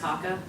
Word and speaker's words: CAHCA: Which, when you spell it out, is CAHCA, and which is pronounced CACA.